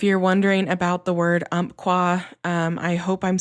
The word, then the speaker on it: Umpqua: I did live in the region for a while and a native over there told me it was umpqua and I was saying it correctly, but I don't know.